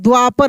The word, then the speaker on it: द्वापर: लिखेंगे द्वापर द्वापर द्वापर तो देखिए हम क्या बोल रहे हैं द्वापर ऐसे द्वा आधा द व पर र क्योंकि द्वा बोल रहे हैं। द्वा द्व द का उच्चारण तेजी में कर रहे हैं। तो आधा हो गया वा पर।